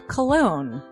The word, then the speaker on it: Colon: It is a self-published book by Christopher Cologne. Chris Cologne? Smells good to me. But look at her. That broke that fucking cold little exterior. He's like, hee. But it is spelled Colon.